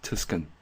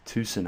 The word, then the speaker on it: Tucson: I read it as Tucson, Arizona, but it's apparently pronounced Tucson, Arizona.